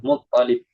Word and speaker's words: Muttalib: Bukan, kadang Anda dengar orang bilang Abdul Muttalib. Pernah nggak? Dia biasanya Abdul Muttalib. Itu kadang orang, kadang Lamnya tasdid. lamnya yang tasdid. Yang betul itu Muttalib. Abdul Muttalib. Bukan Muttalib.